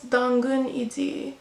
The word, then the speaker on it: 당근: And then the Korean word for carrot is 2 syllables. 당근. 당근.